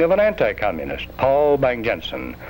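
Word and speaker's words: Bang-Jensen: an anti-c communist Paul bang Jensen bang Yensen is a close equivalent of the Danish pronunciation of that name bang Jensen a career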